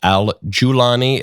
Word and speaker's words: al-Golani: The person who replaced him is an Islamist named Abu Muhammad al-Golani. His name is also pronounced al-Julani.